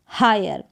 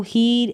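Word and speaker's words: hire: फिर ये है हायर, तो इसको हीर, एक्सपीर या एम्पीर या फीर या डिज़ायर या वीर करके नहीं पढ़ेंगे। यहाँ पर आई का उच्चारण आय है, कारण क्या है, IRE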